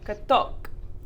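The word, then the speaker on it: каток: So on this side, actually, you can see that the stress switches over to the second syllable. So, katok. Katok.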